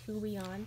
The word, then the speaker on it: Huion: It's a Huion tablet.